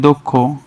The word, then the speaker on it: দক্ষ: যদি বলি দক্ষ, তাহলে কি হবে?